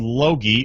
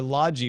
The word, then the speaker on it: Logi: most important question though hard G or soft G and I was thinking laagi or Lodgy but now logi yeah I wonder if they